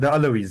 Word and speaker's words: Alawis: Let's talk about the Alawites. I don't know if I'm pronouncing it correctly. So, what, sorry? The Alawites, Alawite in arms? Oh, the Alawis, yes. The Alawis, thank you. Thank you for giving my pronunciation.